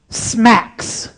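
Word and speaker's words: SMACSS: directly but I do want to give you Smacks and that's how it's pronounced scalable and modular architecture for CSS that's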